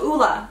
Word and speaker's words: Ole: Thank you, Ole. Oh, Ula. I'm so sorry. This is OLEHENRIKSEN. I always pronounce this brand incorrectly.